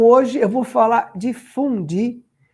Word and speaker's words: fondue: E se pronuncia fondue. Fondue. Tem até um sotaque francês para falar aí, né?